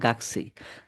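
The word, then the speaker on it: 学生: এটাকে গাকসে অর্থ গাকুসে উচ্চারণ হইলেও জাপানিজরা এটা স্পিড একটু বলে গাকসেই।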